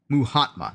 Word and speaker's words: Mahatma: No, pronounce. Cause I'm stupid. Mahatma Gandhi. Muhatma.